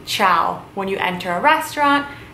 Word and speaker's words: ciao: bye hello or hi is of course chow chow is how you say hello or hi chow you can start off by saying ciao when you enter a